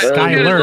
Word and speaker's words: Skylar: But that's not how he pronounces it. He'll never be in the Hall of Fame, bro. It's Skyler.